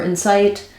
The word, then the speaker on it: insight: um just know that we have the I vowel in both of these just like in the word in or it um if you have trouble with that vowel try matching its Insight um uh his um uh his um students inight um just trying to match that I with other common words that have the I sound and then the the